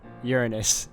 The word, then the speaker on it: Uranus: Uranus goddess of Earth I actually thought she was gonna use the proper pronunciation Uranus but this that works too Cyclops were known for